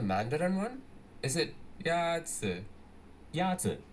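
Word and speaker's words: 鸭子: Yazi. Is pronounced with a first tone. In Mandarin, there are 4 tones, which are essential to distinguish the meaning of words. The first tone is a high, level tone.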